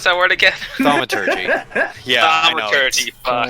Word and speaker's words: thaumaturgy: How do you pronounce that word again? Thaumaturgy.